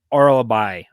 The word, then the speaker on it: Orolbai: So this one's Uros Medic versus Myktybek Orolbai.